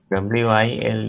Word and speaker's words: wild: WILD is pronounced as wild.